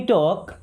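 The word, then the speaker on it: talk: लेट मी टॉक। Late मी्स होता है दो। मींस मुझे टॉक मी्स होता है बात करना। इस वर्ड में भी एल साइलेंट है ना।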